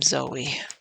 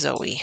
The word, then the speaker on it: Zoe: No, no, that's Madam Zoe. You know, I used to call Madam Zoe Madame Zo because it looks like that, but no, apparently pronounced Zoe.